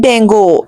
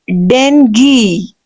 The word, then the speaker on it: dengue: This is not dango. No, this is not dango. This is dengue. The word is dengue. Right? Actual pronunciation will be dengue.